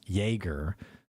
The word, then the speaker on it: Jaeger: Larissa, by the way, adds that Jaeger is pronounced Jaeger.